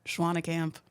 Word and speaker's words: Schwanekamp: Schwanekamp.